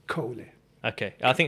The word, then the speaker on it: Kohle: differently yeah yeah but the proper German pronunciation is Kohli okay I think it's